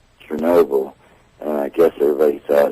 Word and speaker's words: Chernobyl: h e r n o b l e Chernobyl and I guess everybody thought at that time